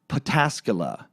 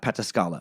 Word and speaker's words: Pataskala: the wonderland murders episode John Holmes lived in pataskala not pataskala Ohio pataskala Christian listener cool